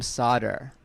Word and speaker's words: Sadr: Instead, they made my middle name Sadr. It's spelled S-A-D-R.